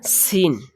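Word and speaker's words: س: তো এটা সিন। এটা উচ্চারণের সময় আপনার মুখ দিয়ে বাতাস বাহির হবে।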